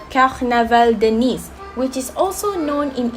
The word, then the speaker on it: Nice: Well, ladies and gentlemen, if you want to know, it is actually pronounced as Nice, which refers to a city in France.